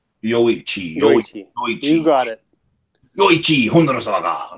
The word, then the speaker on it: Yoichi: Yoichi.